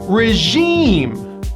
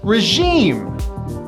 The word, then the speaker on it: regime: comes from the french the second syllable gets the stress and it also has that high e vowel regime regime the evil regime was